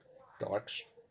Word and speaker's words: Dijkstra: say dijkstra's it's pronounced when you pronounce his name it's pronounced d-y-k-e dykstra all right that's how